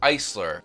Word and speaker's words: Aisler: is actually a spin-off of the man paul Eisler and the proper pronunciation is Eisler because this company's name is